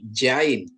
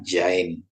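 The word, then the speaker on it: זין: Konsonan Ibrani Jain. Jain, ya. Jain, Z. Dibunyikan seperti zet dalam kata zebra.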